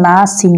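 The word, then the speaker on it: النَّاس: দেখেন এখানে লেখা রয়েছে নুন নুন আলিফ জবর নাসিন জের সি অর্থাৎ নাসি উচ্চারণ কি হবে অবশ্যই আপনারা জানেন যে নাসি হবে তো এখানে আমি নাস কেন পড়েছি একটা প্রশ্ন আসতে পারে দেখেন আমি এখানে যে অফকো করেছি অর্থাৎ আমি স্টপ করেছি থেমেছি ওই থামার জন্য আপনি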